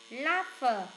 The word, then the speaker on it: laugh: Hide, sigh, wait, laugh. Mấy cái câu kia là câm hết. Câm hết chữ g, h, câm. Trong chữ này đọc là f.